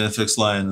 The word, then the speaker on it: FXLION: How do they pronounce their name? FXLION, do you think? The FXLION? Actually, FXLION is how they say it.